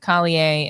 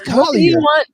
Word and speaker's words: Collier: If Dominique don't stop saying the French version of that girl's name, like it's Jessie Smollett, it's Collier.